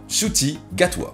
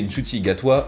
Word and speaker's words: Ncuti Gatwa: Bref, parlons de ce nouvel acteur qui jouera le 14e Docteur, Ncuti Gatwa. Alors oui, pour prononcer Ncuti Gatwa, sachez que je me suis renseigné pour savoir comment ça se prononçait.